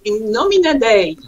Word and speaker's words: In Nomine Dei: United States laughing so you shall pronounce it in know me today yeah you do that